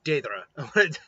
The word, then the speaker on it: Deidara: So last time we left off with basically the quick ending of Deidara and it is Deidara. I know it's Day and the Dara.